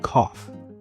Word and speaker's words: cough: It is pronounced cough. C o u g h spells cough. English is a funny language.